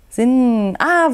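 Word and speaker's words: Singha: ne singer Bier hier ist es übrigens singa Bier sin ah wird gar nicht singer ausgesprochen sondern wenn ihr auch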